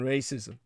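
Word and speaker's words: рашизм: It's actually pronounced in the Ukrainian more like racism, because that's exactly what they're talking about. Russian racism.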